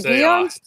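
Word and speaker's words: Guillén: Vanessa Guyan? Guyan, yeah. I guess I say it wrong? No. I'm half Hispanic, so I know how to pronounce the double L's. It kind of sounds like a Y.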